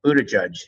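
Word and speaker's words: Buttigieg: this uh young mayor Buddha judge as you told me his name is pronounced who was the mayor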